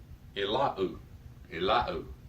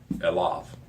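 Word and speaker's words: אֵלָיו: And the temptation is to pronounce unto him as Elau, but it's not Elau at all. That ending vav is not the U vowel. It is Elav. So you pronounce it with the V, like it should be pronounced.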